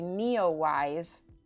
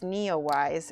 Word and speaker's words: NEOWISE: out to the country and we go see Neowise. I'll spell it for you guys so you can look it up yourself. It's Neowise, N-E, it's capitals, I don't know why, W-I-S-E.